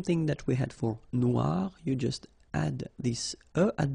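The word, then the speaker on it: noire: So it's quite funny because you will have to add this uh at the end of noir for the feminine form but then you don't pronounce it.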